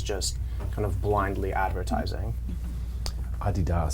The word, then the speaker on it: Adidas: kind of blindly advertising Adidas sounds so much better than Adidas I know that's what